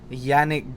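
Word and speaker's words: Janick: So we're still with Yannick Gers. I was told that's how it's pronounced. Yannick, not Janik.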